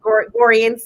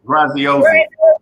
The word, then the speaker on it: Graziosi: Lisa Nichols, Tony Robbins, Les Brown, Dean, I always pronounce his last name wrong, but Dean G. Goriense, so I can never say that. Graziosi. Yeah, Dean Graziosi.